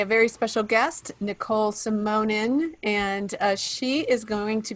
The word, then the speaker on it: Simonin: everybody messes up my last name i get anyway but um so my name is nicole simonen i own shape it up fitness and as